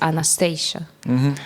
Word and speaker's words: Anastasiya: I like David says Anastasia. David McSavage says Anastasia, so awesome. So Yeah. I've got it. But Anastasiya.